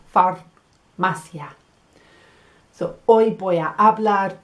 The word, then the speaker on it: farmacia: gonna say farmacia the the letter R lands on the roof of my mouth right at the front far masya so hoy voy a